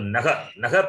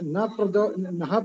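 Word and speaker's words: नः: How do you pronounce Naha Prachodayat or Na Prachodayat? Na, you should not say. If you say na, it is wrong.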